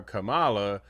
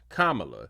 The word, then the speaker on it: Kamala: representative of South Carolina mispronounced Kam Harris's name so she's calling her Kamala rather than Kamala totally ridiculous completely outlandish